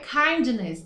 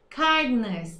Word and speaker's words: kindness: Kindness, ó, não é kindness, tá bom? Esse D quase mudo, você começa a pronunciar ele, mas você não vai até o fim. Então, kindness, tá?